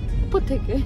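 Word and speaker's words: Apotheke: ओपो थेके. सो मेरा pronunciation थोड़ा गड़बड़ है जर्मन.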